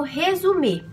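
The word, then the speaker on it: résumé: é conhecido aqui como resume essa palavra tem origem francesa então é por isso que tem essa pronúncia resumir o currículo vitae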